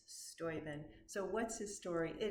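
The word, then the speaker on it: Steuben: I had been pronouncing it stuben. It's Stoen.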